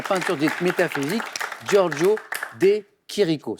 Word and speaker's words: Chirico: dite métaphysique giorgio de chirico ça s'écrit chirico ch lire ici ou italiens qui rico exactement de quelle canards sauvages